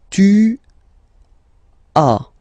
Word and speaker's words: tu as: Okay, second one, tu as. Okay, as usual in French, final s is not pronounced.